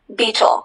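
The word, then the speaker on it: baetyl: Beetle.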